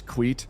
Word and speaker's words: Queet: Because if you want to shriek at me at high speed, 2 syllables is way too many syllables. So Quiet becomes Quiet, Quiet, Queet, Quiet, Queet. Ta-da. And yes, it sounds like queef, but it's not.